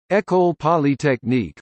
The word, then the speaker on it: École Polytechnique: Ecole Polytechnique French pronunciation echo clinic also known as EP or